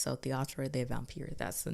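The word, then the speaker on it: Théâtre des Vampires: because my Southern behind would have been like theaters the vampires and I don't think that that's how it's pronounced so theatro the vampir that's the name of it so what we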